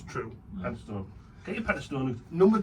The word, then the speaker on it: Penistone: Penistone or true. Penistone. See, Aye, that's soup. A bit like minestrone, yeah. Aye. Penis stone. Or penis stone. Penistone.